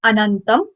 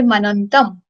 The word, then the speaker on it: anantam: It's Anantam. But when we'll pronounce it, it would be Manantam.